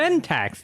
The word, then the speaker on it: Ventax: the Ventax, the planet Ventax, right? It's spelled VAN.